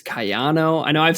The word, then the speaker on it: Kayano: I think I'm pretty sure it's not Keano, but it's Kano. It's Kayano. I get it. Yes. YouTube comments. I don't know if the empisus is on the Kyano or if it's Kayano.